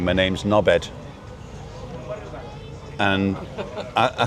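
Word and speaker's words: Norbert: But he didn't pronounce the T. So it was a D on the end.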